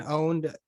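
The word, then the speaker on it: pwned: Shannon, a website I like to use, it's called like Have I Been Owned? Owned is spelled with a P, and that's relating to the gaming industry and how they say exactly. owned.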